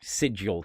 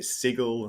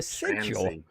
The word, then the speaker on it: sigil: You know, I was never sure of that word. I used I used to pronounce it sigle when I was a kid.